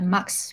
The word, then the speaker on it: MUX: I think we usually pronounce it as a MUX because MUX is actually a short version of multiplexing, which is the word in telecommunication.